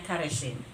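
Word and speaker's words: χαράσσειν: Karakter ini diambil dari bahasa ee Yunani ya, yang ee asal katanya itu ka tulisannya caresin, bacanya karesin ya.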